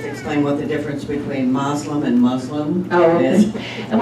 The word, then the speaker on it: Muslim: have the same beliefs and practices that mainstream Muslims to have and but yes about a third about I would say about a quarter to a third of the American Muslim community is African American so to answer that